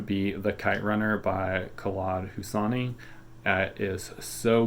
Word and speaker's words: Khaled: the Kite Runner by Khaled Hosseini I'm trying to say that correctly I was told how to pronounce it one and you don't say the K the way we would all of his books